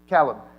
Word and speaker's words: Calub: Calub.